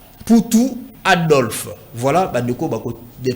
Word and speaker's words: Mputu: ça s'écrit avec N, S, I, A, L, A. N, S, I, A, L, A. Poutou, c'est avec M, P, U, T, U. Poutou, M, P, U, T, U.